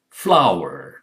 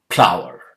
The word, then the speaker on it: flower: Flower, not plower. Okay, flower, f.